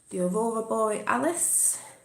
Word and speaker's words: Aurora Borealis: The Aurora Borealis, that's how you say it, Northern Lights.